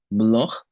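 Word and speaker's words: Bloch: mathematician who invented it his name was block that's why I'm pronouncing it with the CH being block not block and that is our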